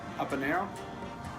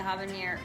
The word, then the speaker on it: habanero: There's no H. The H is silent.